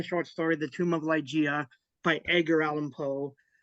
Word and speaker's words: Ligeia: So basically, it's Ligeia. It's based on the short story "The Tomb of Ligeia" by Edgar Allan Poe.